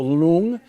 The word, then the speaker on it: Lung: So Lung is a better pronunciation, of course, and that is stands for dragon, and Ching stands for.